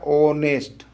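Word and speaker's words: honest: भरिए तो यहां भरा जाएगा ए लेकिन अगर उच्चारण करके पढ़िए तो ये होता है ऑनेस्ट ऑनेस्ट ऑनेस्ट ये पहला अक्षर देखिए हिंदी का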